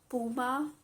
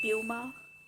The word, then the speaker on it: Puma: a german footwear brand it's puma or puma all both of these pronunciations are correct one is american pronunciation and the other is